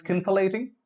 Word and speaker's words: scintillating: smart sounding word scintillating this is scintillating no it is sin the late Ain simple a ting look